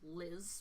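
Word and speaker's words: Lys: name tag that says you may call me Liz but it's spelled ly s they've got a set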